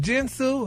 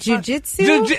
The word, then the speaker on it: jiu-jitsu: How do you pronounce that word? Jins Su. What's that? What's that word? Jiu-jitsu.